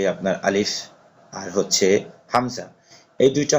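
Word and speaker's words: ألف: এই হরফটি উচ্চারণ করতে হবে যে উপরে দুই দাঁত নিচের ঠোঁটের পেট একসাথে লাগায় উচ্চারণ করতে হবে আলিফ। এটা বাতাস বের করে পড়তে হবে।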